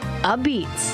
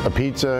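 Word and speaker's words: apizza: They think it's a pizza because that's the way it's spelled, but it's actually pronounced a beats. That's the Italian slang that's developed over the years in New Haven.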